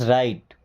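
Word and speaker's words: right: This is राइट। This means यह is means है राइट। अब इस वर्ड में जी एच साइलेंट है।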